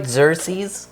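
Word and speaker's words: Xerces: Xer. Yeah, you you pronounced that correctly.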